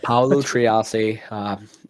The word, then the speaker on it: Paolo Triassi: I was going to butcher it, so I want you to pronounce it. Paolo Triassi, a man who I'm one-on-one with now, all the way from Montreal, Quebec.